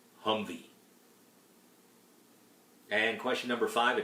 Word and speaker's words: HMMWV: number four military acronyms hmmwv pronounced humvee and question number five